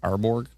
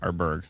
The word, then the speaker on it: Arborg: Arborg. Uh oh. Oh boy. And look at where it's popping. Eliro Arberg. Oh my bad. Arberg. Sorry. The It was the O that gave me the Borg part. Arberg.